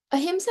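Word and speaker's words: अहिंसा: becomes opposite be careful if you put a ah then it reinforces the meaning sometimes right if you say ah hims means a lot of Hima so please say it correctly a him is nonviolence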